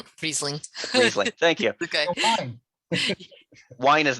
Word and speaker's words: Riesling: i have uh something i will also probably mispronounce uh raiseling riseling riesling thank you okay wine is not my wheelhouse